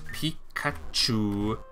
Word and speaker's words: Pikachu: Pikachu.